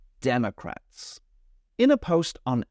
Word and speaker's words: Democrats: There's an O there, but I don't say Democrats. I'm lazy. I use Democrats.